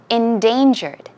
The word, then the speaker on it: endangered: four of them endangered the stress goes right here we mentioned this word